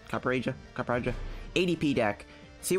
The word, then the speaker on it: Copperajah: our copper agile kappa roger said it's pronounced copper aja a project ATP deck